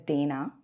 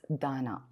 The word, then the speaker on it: Dana: na a pronounced Dan many of course pronounce it as Dana but it is Dana and then two days